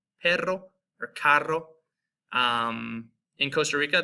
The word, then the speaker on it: perro: This is going to have that rolled R. If you guys can do it like perro, perro, or carro.